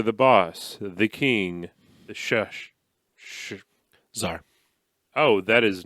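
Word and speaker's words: Shah: But thesar. The sha. The sha. Sha. Yeah. I always thought he said thesar, but no. The sha.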